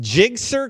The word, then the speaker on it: GSXR: hey and how do we say your name GSXR jig sir Wow can you spell